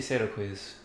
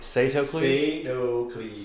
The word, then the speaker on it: Sadocles: What do you say, Sadocles? That's how you pronounce his name.